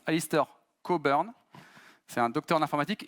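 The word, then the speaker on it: Alistair Cockburn: l'architecture hexagonale qui été inventé par ça se prononce Alister cobern c'est un docteur en informatique et c'est également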